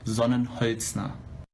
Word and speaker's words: Sonnenholzner: hotmail el presidente pues su nombre es otro son en heights na es así así es como se debería pronunciar en todo caso cuando todos